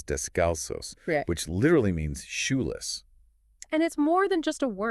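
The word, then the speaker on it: descalzos: We usually say discalst, right? But the Spanish word is descalos, which literally means sholess.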